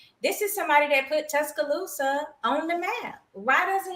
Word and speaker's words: Tuscaloosa: Tuscaloosa, yes.